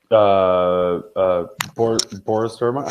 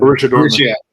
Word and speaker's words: Borussia Dortmund: But like Boris Dortmund, how do you say it? BBB in Germany. Borussia Dortmund.